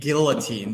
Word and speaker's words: guillotine: I'm probably gonna get guillotine because you it's a it's not a silent L apparently when you're in New York guillotined for um I'm